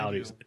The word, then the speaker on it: Audi: I said Audi with the RS car. Speaking of Audi, though, it starts with an A. It rhymes with howdy.